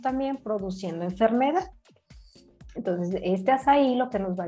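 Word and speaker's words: açaí: Tenemos al azaí, que se escribe acai.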